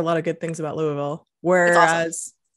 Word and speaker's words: Louisville: i hear a lot of good things about louisville whereas not the rest of that state yeah pronounce the name of the city for us because so it's louisville yeah you say uh you don't say louisville